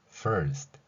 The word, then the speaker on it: first: 살펴볼 필요가 있지요 영어에서는 저 소리가 결론적으로 말씀드리는 first 이렇게 발음이 됩니다 자 그런데 우리는 이렇게를 피흡으로 현재